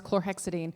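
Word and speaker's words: chlorhexidine: you say that word the chlorexidine oh it's chlorexidine chlorexidine is a good wound wash I mean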